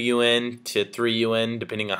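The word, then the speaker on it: yuan: currency is called the renman b or the UN it's spelled Yu an but pronounced un like the organization so every US dollar is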